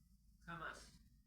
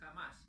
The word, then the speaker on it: Hamas: Aparece ese señor, que es el jeque Ahmed Hassim, que funda Hamas. No se olviden que todas las H en Medio Oriente se pronuncian como una J, por eso es Hamas y no Hamas.